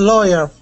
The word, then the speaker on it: lawyer: It's a lawyer.